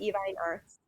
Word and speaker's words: Evine Arts: Is that how you pronounce Yes, it? Evine Arts.